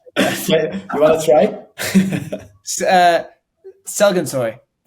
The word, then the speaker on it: Sezginsoy: So many people say Sezginsoy, but yeah, it's Sezginsoy.